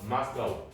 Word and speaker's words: Moscow: 마스카우. 이게 모스크바예요. 선생님 이거 왜 마스카우인데 모스크바라고 하나요? 마스카우는 미국 애들이 영국 애들이 읽는 방법이고 자 러시아어로는 그 도시의 원래 이름이 모스크바의 발음이 가깝대요.